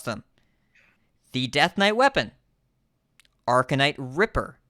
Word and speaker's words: Arcanite Ripper: so commonly mispronounced fol cards and how to pronounce them the death knight weapon arcanite Ripper not arcanite Reaper Reaper is a 5-2 this is a ripper